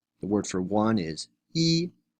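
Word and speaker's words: 一: as first tone but its pronunciation changes according to the following tone Sandy rules before a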